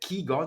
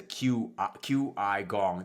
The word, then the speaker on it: qigong: it, qigong, is that qigong, that's how you say it, qigong, Qigong. chi, so the Actually, q is a chi. it depends on the spelling. So the QI is actually Mandarin, and the chi as